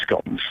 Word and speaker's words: scone: You know, you can get cheese scones. Yeah. By the way, but I'm pronouncing it scone, not scone.